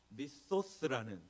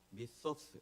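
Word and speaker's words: μισθός: 잠깐 보여주시면요, 미소스라는 단어인데요. 미소스, 이게 번데기 발음이에요.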